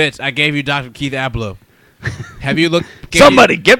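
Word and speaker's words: Ablow: Keith Abloh. Have you looked? Somebody, give me that clip. Just Google Keith Abloh Glenn Beck.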